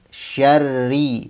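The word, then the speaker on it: شر: Kemudian huruf ro di sini dibacanya tipis karena huruf ra berharakat kasrah. Kalau ee contoh yang salah misalnya kalau dibaca tebal minyarri. Jadi bibirnya jangan ditarik. Kalau misalnya syar syarri syarri bukan syarri ma khalaqo.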